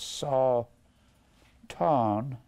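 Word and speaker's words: שָׂטָן: the Lord saw Tong spells Satan but it's pronounced saw Tong it means an adversary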